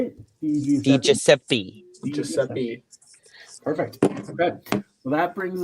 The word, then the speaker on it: DiGiuseppe: DiGiuseppe.